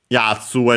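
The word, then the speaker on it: 奴: Yatsu as usual, fellow, guy, and so on. Accent on the first mora.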